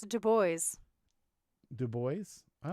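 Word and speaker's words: Du Bois: gonna take Carter be Woodson yeah it's actually pronounced in two boys do boys not do boy do boys all right I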